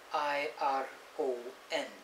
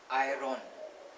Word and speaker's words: iron: it is which is iron iron that is kind of like incorrect the right way of pronouncing it is iron the r is silent so i was like